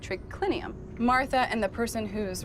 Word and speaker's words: triclinium: i n u m in Latin it's spelled as it sounds but here trinium has